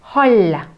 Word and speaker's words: hall: Hall, две L, L, удваиваем, hall, hall.